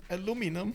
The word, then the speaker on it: aluminum: So what do we call aluminum or aluminium?